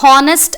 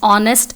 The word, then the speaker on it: honest: So, honest and har are wrong pronunciation. We actually have H as silent in both the words. So, it is pronounced as honest and are.